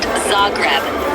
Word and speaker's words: Zagreb: How do you pronounce Zagreb? It's pronounced Zagreb with the emphasis on the first syllable.